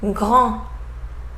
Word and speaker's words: grand: Let's see examples with final D that we don't pronounce either. Allemand, allemand, grand, grand.